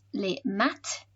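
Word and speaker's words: les maths: other one maths so the spelling is the same but it's pronounced le mat and finally dt is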